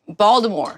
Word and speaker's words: Baltimore: No, from Baltimore. Baltimore.